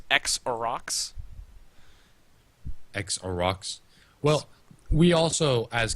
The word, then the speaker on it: Xerox: Let him know that it was a mistake, and it was a 0 with the when we pronounced it 0. It is actually because it's X X-E-R-O, and then X. It's X-Orox.